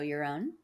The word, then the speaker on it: Jeroen: Welcome to the show, Jeroen. Thanks so much for having me, Barrett. And thank you for pronouncing my name so well, because that's not always easy.